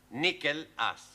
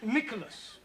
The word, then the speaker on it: Nicholas: Once upon a time, there was a man called Nickel Ass. That's not quite right. No? Once upon a time, there was a woman called Nickel Ass. It's pronounced Nicholas.